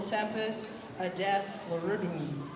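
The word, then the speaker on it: Tempus Adest Floridum: The little Tempest Adest Floridum.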